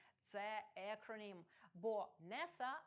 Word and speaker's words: NASA: Однак, схожа за спелінгом комбінація NASA – National Aeronautics and Space Administration – це акронім, бо NASA вимовляється як слово, а не послідовність окремих літер.